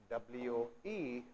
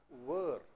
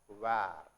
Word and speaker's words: were: is called, you see, W-E-R-E. It should be pronounced as were. What is that? It should be pronounced as were and it is not where.